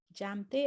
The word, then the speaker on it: Jamthe: my newsletter jam they as in my name j a m t h e jane my name is not silent for those of you